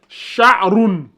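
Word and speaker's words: شعر: Sha, A, Roun. Donc, ça donne Sha'roun.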